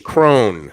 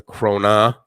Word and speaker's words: krone: the dkk is um danish crone sorry that's how you pronounce it is it is that how you pronounce it danish crone not the crona kroner thank you that's